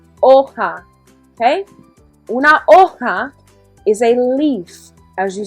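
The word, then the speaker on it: hoja: in espanol repeat okay the h is silent oha is a leaf as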